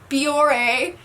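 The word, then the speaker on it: Bioré: It is a Biore. That's how you say it. God, I'm so bad at pronouncing things.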